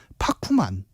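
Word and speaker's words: パックマン: 그래서 원래 이름은 파쿠만 입니다. 일본이 그 받침 발음이 잘 없다 네.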